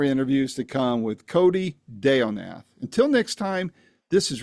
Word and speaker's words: Deonath: And then is it Deonath? Is it Deonath? Like banana boat Nath. I'm sorry that you had some latency there. What was it again? Deonath.